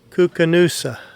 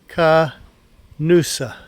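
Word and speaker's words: Koocanusa: But they pronounce it Kookanusa. So Kookanusa.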